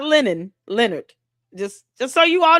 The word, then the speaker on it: Lennon: Lennon, not Leonard, Lennon.